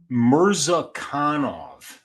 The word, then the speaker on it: Murzakanov: Murzakanov.